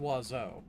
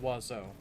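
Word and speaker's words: oiseau: word for bird um the word for bird in French has like seven letters and it sounds like none of them it's pronounced wazo right right uh so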